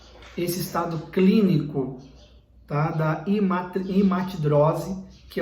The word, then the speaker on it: hematidrose: Quero pronunciar correto essa palavra, hematidrose.